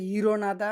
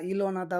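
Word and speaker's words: 일어나다: আমরা ব্যবহার করব তারপর ইরনাদা উচ্চারণটা হবে ইরনাদা নতুন তোমরা ইলনাদা বলেন সমস্যা নাই ঠিক আছে ইরনাদা ওঠা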